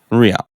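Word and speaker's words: Rían: And Rian, how do you pronounce that? Rian.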